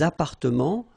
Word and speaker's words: appartements: Remember, final S and final T are not pronounced here. Des appartements, little liaison here, des appartements en copropriété.